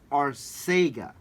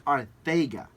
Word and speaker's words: Arcega: When he was in college, it was always pronounced Arcega. Okay. Right. But when he got to the NFL, he told the reporters, the Eagles beat guys, it's Arthega.